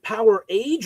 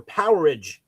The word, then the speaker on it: Powerage: Is it Power Age or Powerage? Powerage. Powerage. I always I always said power age because some people say like an outage. It's like a powerage.